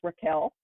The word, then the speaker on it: Rachel: um Rachel wild um her name she would tell you is pronounced Raquel but even in my head I call her Rachel because that's what it looks like on paper but um she is